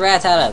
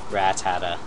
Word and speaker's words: Rattata: I feel like I pronounced that oddly. Rattata. You kinda like emphasize the rat.